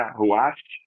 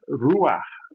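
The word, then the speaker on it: Ruach: pela pronúncia né porque a expressão correta não é rash nem tampouco ruar o correto é ruar esse ruar é só lembrar daquele R de barata aquele r de paralelepípedo que aí você vai ter a pronúncia ruas acodes Então é só lembrar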